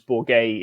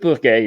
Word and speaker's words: Bourgueil: And I hope, it looks like an odd word the way it's spelt, but I think the English version of that word as Bourgueil is actually probably roughly the simplest way of saying it, and therefore not too